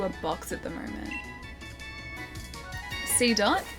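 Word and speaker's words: Seedot: C dot. So it is like pronounced like dot.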